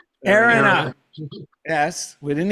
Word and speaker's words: Erinna: Erinna.